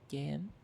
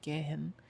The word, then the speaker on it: gehen: So in the word like gehen, which means to go, the H is silent because it's in between two vowels. You don't pronounce it's not gehen, it's gehen.